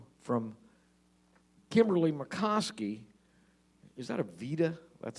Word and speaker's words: Aveda: Is that a Vita? That's how you say it. Aveda.